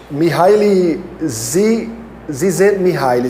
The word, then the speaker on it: Mihaly Csikszentmihalyi: Mihaly Csikszentmihalyi, se eu não me engano, é a maneira como se pronuncia.